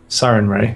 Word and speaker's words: Sarenrae: I can't actually pronounce. Sarenrae. Sarenrae.